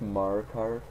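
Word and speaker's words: Markarth: marar to reach wind it's pronounced mark car not my listen I'll shoot this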